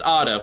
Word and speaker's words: Otto: five what's my name it's Odo we've gone over this no it's Otto say it that's what I just said why does nobody understand